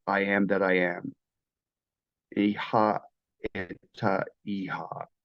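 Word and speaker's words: אהיה אשר אהיה: Iha eta iha is how they say it in Hebrew.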